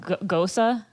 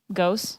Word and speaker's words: Gose: Yes, it is I don't know how to pronounce this because I think it's German, so it's like Gosa. Gose. I don't know if you say Gose or Gosa.